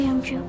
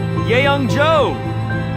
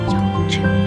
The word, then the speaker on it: Youngju: Hey, Youngju. The MVP award goes to Yeyoung-jo. It's actually Youngju.